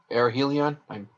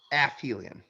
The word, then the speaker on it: aphelion: sun in orbit uh air helion i might have pronounced that wrong aphelion as in well i